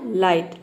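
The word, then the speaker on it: light: pronounce नहीं करते हैं तो देखिए यहां इसमें जी एच साइलेंट है एल का हमने लव प्रोनाउंस किया और आई का हो जाएगा आई टी का हो जाएगा ट ये हो जाएगा लाइट लाइट मतलब होता है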